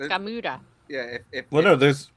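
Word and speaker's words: Gamera: It's Gamura.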